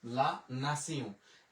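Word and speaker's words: la nation: তাহলে আমরা যে এল আ লা, এন আ না, তে ই ও এন উচ্চারণ হইল সিউ, লা নাসিউ। এটা নামে কিন্তু একটা মেথড স্টেশনও আছে, অনেকে বলে নেশনে যায় না, নেশন ইংলিশে বলি, কিন্তু ফরাসিতে অবশ্যই হবে লা নাসিউ।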